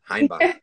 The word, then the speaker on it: Hainbach: And do I pronounce it right, Hainbach? Because you're German, Hainbach, right?